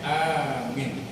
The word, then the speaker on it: amin: Makanya amin. Di dalam ujung daripada itu kita ucapkan amin, tapi membacanya harus benar. Pertama a panjang, minnya juga panjang. Amin.